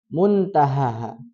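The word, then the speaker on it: منتهاها: Kemudian ayat yang ke-44 muntahaha. Nah, itu ada nun sukun ketemu tak. Hukumnya apa? Ikhfa. Ikhfa itu cara bacanya seperti apa? Samar dengan dengung. Jadi Jadi terbacanya muntahaha.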